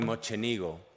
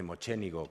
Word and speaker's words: Mocenigo: exposición del dogo Giovanni mocenigo he aprendido recientemente que no se dice mocenigo como uno tendería a decir sino mocenigo me lo contó una veneciana que vino aquí el logo Giovanni mocenigo